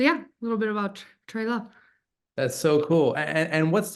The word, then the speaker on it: TWLOHA: And so, yeah, a little bit about TWLOHA. That's so cool. And what's the abbreviation? What is TWLOHA? TWLOHA. TWLOHA.